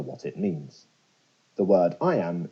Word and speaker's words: iamb: it means the word I am is pronounced just like the phrase I am now let's expand that